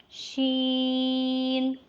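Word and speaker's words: شين: is similar to scene Sheen is a light sound and long letter it is pronounced when the middle of the tongue touches the top of the mouth roof so read after me Sheen Sheen feed once again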